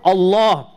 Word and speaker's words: Allah: We're making the lam heavier. And this is what we, how we pronounce the name. Unless there's a kasra before it, then we say lillahi alhamd. Otherwise, alhamdulillah. Or Allah, we say the heavy L.